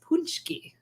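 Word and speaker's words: pączki: But I know because I am both from Detroit and Polish that this word is pronounced punchki. Good God. Punchki. Punchki. Like, yeah.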